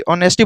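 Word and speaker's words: honesty: उसके बाद हॉनेस्टी यानी ईमानदारी, ऑनेस्टी बोला जाता है इसको। ऑनेस्टी लिखा हुआ है लेकिन इसको ऑनेस्टी बोला जाता है। जैसे मैं आर्टिकल में आप लोगों को बताऊंगा एच साइलेंट क्यों होता है।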